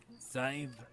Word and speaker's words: Sadhbh: Take the F, throw it away, put an S. It ain't how it's spelt, but it is how you say it. So, okay. Sive.